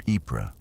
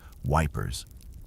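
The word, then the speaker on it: Ypres: Soldiers stationed near Epra, Belgium, a town they famously and affectionately mispronounced as Wipers, stumbled upon a damaged printing press in the ruins of a bombedout building.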